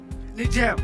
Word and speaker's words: Niger: Niger, the correct pronunciation, but you correct.